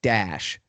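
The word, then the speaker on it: Daesh: call it in arabic the acronym is pronounced dash d-a-e-s-h kind of thing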